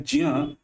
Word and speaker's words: ज्ञ: इससे बना है दोस्तों आधा ज आधा य जो आधा नहीं है पूर्ण है और अ और इसको आप पूर्ण उच्चारण करेंगे तो शब्द होता है ज्ञ ना कि ज्ञा और हम बोलते हैं